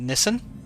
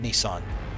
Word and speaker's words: Nissan: Like uh Nissan, the car manufacturer, they pronounce it Nissen, but I have spoken to Nissan reps who, you know, from the actual company itself and they call it Nissan.